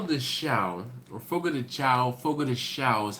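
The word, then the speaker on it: Fogo de Chão: Please find the closest Fogo de Chao to you, and again, it's Portuguese, so CHAO. In English, Chao, Fogo de Chao is usually how it's said, but in Portuguese, it's Chao, Fogo de Chao.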